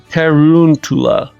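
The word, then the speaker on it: Tarountula: Tarantula. That's right, because it's round and tarantula.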